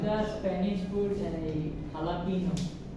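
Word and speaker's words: jalapeño: Sir, like the Spanish food jalapeno, like it's written in JLA. Right. But they just say it like jalapeno. That's very familiar in Hispanic culture, Yeah. right? Yeah. One. Jalapeno.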